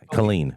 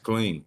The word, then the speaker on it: Killeen: lot of time um how do you pronounce this County's name Bell County or the the city then Colleen or what is it Colleen yeah yes clean interesting I don't understand I